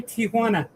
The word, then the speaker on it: Tijuana: It's simply Tijuana. It's There's no A between the I and the J. It's Tana. Tijuana.